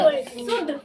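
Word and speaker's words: should: एच ओ यू एल डी क्या पढ़ोगे सोल्ड शुड कैसे पढ़ेंगे तो पढ़ो शुड की सोल्ड शुड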